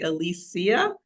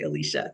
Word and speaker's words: Alicia: her say her name I actually say Alisia so but I'm not surprised that you say Alicia that's typically what I hear all right so tell